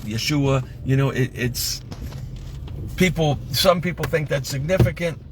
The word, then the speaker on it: Yeshua: of discussion here, because people will say his name wasn't Jesus because there were no vowels and it was pronounced Yeshua, right? Yeshua, some people think that's significant.